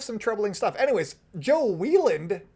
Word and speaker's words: Whelan: anyways let's talk about Joe Whelan uh and that is how you say even though it looks like Wyland like Scott Weiland the melody man um